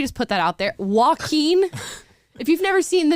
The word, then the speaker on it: Joaquin: put that out there Joaquin if you've never seen the name Joaquin and you you hear that it's perfectly reasonable to think it would be w I don't know what